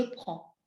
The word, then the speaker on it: prends: Le D est présent dans l'orthographe au singulier, mais on ne le prononce pas. Je prends.